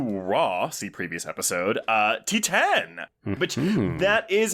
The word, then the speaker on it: Titane: now's followup to Raw see previous episode uh T10 which that is how it's pronounced I remember when this was coming out